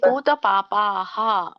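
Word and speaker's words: ಪೂತಪಾಪಾಃ: ಹರೇ ಕೃಷ್ಣ ಮಾತಾಜಿ ಪೂತ ಪಾಪಾಹ ಅಲ್ಲಿ ಪಾಪಾಹ ಬರಲ್ಲ ಪಾಪ ಇದೆಯಲ್ಲ ಆಮೇಲೆ ಮುಂದೆ ಕೂಡ ಹ ಉಚ್ಚಾರಣೆನೇ ಬರುತ್ತೆ ಹ ಪಾಪಾಹ ಪಾಪಾಹ ಮದ ಹರೇ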